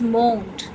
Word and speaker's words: mourned: Next is mourned. Mourned. R is silent over here.